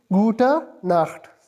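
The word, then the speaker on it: Gute Nacht: इसको प्रोनाउंस इस तरह करेंगे। गुटा नाख सिंपली।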